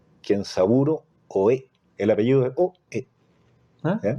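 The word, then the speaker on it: 大江: El apellido es Oe. ¿Ah? ¿Ya? Es súper fácil de recordar, Oe, con acento en la E, Oe.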